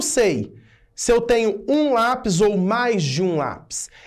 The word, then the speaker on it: lápis: Lápis, ônibus, tênis, são casos desses. Olha, lápis é uma paroxítona, separando em sílaba, lápis.